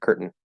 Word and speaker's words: curtain: go straight into the end uh syllabic and curtain curtain and that's actually probably the single most common